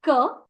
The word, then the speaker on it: que: Next, la prononciation pour this word que. This is que, whereas the pronunciation of this is qui. So this is qui and que.